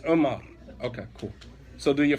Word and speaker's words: Umar: Omar? That's an identity crisis. Because that's not how it's pronounced. Huh? It's Umar.